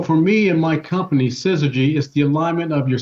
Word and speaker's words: syzygy: How do you pronounce that? That is this. Well, the shirt, this is called syzygy.